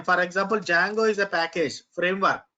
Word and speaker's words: Django: So D is silent. We need to spell it as Django, but most of the